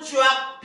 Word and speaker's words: 쫙: 화이팅하는 거야 어 잘했는데 짝이 아니고 이게 이제 문제예요 쫙 쫙 그죠 근데 발음을 쫙 모아줘야 되 보통 보면 가슴을 쫙 이런다고 짝꿍 할 때 짝이 아니고 쫙 쫙 다 여기가 중요하니까 가슴을 쫙